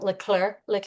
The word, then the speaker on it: Leclerc: Katie, I think I'm gonna say her last name wrong. Leclerc.